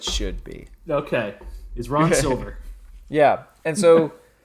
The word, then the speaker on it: Silver: What, am I mispronouncing his name? You're calling him Silva? Is that no? What have Silver. it's just Silver?